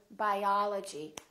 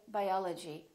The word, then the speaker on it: biology: as in the word biology we don't say biology we say biology biology I'm studying biology